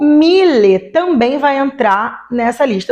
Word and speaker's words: Mille: falando de um mil Miller só de mil ele vai ser escrito e pronunciado dessa forma com é no final Mille ponto basta mas